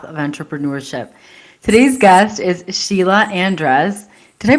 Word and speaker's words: Sheila Andres: Today's guest is Sheila Andres. Did I pronounce that correctly?